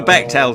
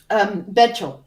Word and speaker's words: Bechdel: Yeah, it's like the opposite of the Bechdel test.